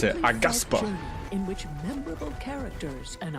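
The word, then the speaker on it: Aghasba: That's how you pronounce it. Agaspa.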